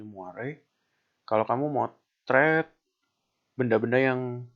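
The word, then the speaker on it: moiré: Di bawah ini ada yang namanya moire, bacanya moire.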